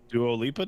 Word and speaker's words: Dua Lipa: Dua Lipa did.